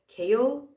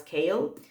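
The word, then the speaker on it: Chaol: the royal guard and he's called kale it's like chaos but with an L instead of an S at the end and Google told me that I'm supposed to pronounce it as kale so kale and Dorian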